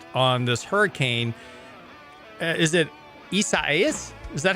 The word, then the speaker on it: Isaias: I happened to glance up, and they have a hurricane tracking chart of this hurricane ICA, however you pronounce it, Isaias? It's three syllable.